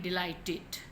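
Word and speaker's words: delighted: अब ये देखें, डिलाइटेड, ठीक है, ईडी से पहले टी आया तो आईडी की साउंड आएगी, डिलाइटेड, डिसाइडेड, ठीक है,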